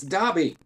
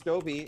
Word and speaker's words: Dobby: first four books well i started pronouncing it as dobie and i don't get how you get that because yeah his name is spelled where it wouldn't be a long o right it's just argument